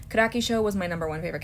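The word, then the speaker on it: Kirakishou: um yeah that's how you say her name karaki show was my number one favorite character and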